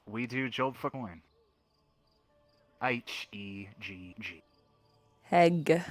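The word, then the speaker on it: Hegg: H-E-G-G. Heg. Alright, not Peg. You sound like you say with P.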